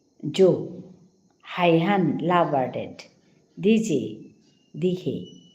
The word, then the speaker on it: yo: अच्छा Y to J sound होबो. That means जो pronunciation होबो. Oh. अच्छा जो. Dihe la vardet. Jo dihe la vardet.